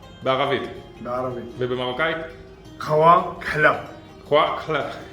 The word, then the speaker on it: قهوة كحلة: Khwa Khle. That's how you say it in Moroccan dialect.